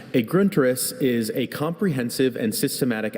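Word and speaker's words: Grundriss: Gruntus. Could I have the definition? A gruntus is a comprehensive and systematic outline especially of a science.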